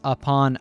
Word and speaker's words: upon: The U sound in upon is actually the most common sound in English, the schwah, which is pronounced like uh uh.